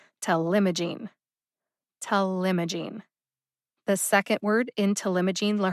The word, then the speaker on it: talimogene: is telemajine telema gene has four syllables see if you can hear them telemagine to limogene the second syllable m gets the emphasis punch it tell limogene telemogene the second word intelimogene